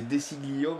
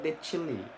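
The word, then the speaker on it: De Sciglio: C'est comme toi, tu disais Desiglio, mais apparemment, il faut dire Decilli. Ouais, mais en italien.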